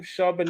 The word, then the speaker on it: Charbonnet: How you pronounce his last name? Charbonnet.